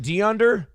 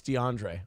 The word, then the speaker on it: DeAndre: just have normal names is it de under no it's DeAndre oh my name's bill